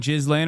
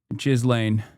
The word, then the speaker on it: Ghislaine: Wait, I've been saying jizz laying around my parents this whole time because the way you're pronouncing it is, you're telling me is wrong? Yes. Jizz lane.